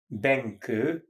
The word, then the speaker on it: Benkő: Her name was Anna, A-N-N-A, Benke, B like boy, E like Eve, N like Nancy, K like Kathleen, O with two accents on it, pronounced Ö.